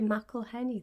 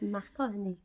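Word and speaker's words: McElhenney: Ryan Reynolds and Rob meleny who just become owners AFC rexim at the time he didn't say Mel Henny though he said M heny he didn't quite say it right and I thought they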